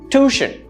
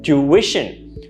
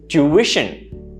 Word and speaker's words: tuition: it that way instead you pronounce it with three syllables with the stress in the second one tuition tuition is the correct pronunciation